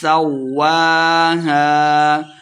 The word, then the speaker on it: سَوَّاهَا: وَنَفْسٍ وَمَا سَوَّاهَا واو کے اوپر کھڑی زبر ہے تو اس کو 2 حرکات لمبا کر کے پڑھیں گے.